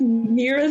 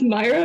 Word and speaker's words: Mira: It's like how I used to pronounce Mira's name as Myra, but y'all gaslit me and say Mira now.